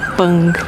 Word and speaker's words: Prang: Pang, né? Porque eles não pronunciam o R, deve ser Pang.